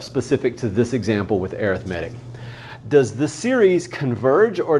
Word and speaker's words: arithmetic: an arithmetic sequence so arithmetic sequence all right let's just pause and talk about pronunciation here that looks like arithmetic arithmetic is a noun arithmetic is an adjective so the type of